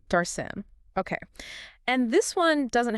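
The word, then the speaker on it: darshan: That's d a rs an pronounced sort of like daren. Darcen.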